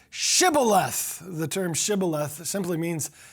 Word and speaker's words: shibboleth: replied no no they said all right say shibboleth the term shibboleth simply means an ear of corn if he said sybileth because he could not pronounce the word correctly